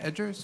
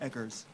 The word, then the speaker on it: Eggers: Am I pronouncing that correctly? Is it Edgers or Eggers? Eggers. Eggers? Yes.